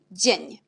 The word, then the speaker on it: dzień: Et c'est dzień. Alors on a DZI, c'est J. Et à la fin, on a N avec l'accent, c'est ni. Dzień.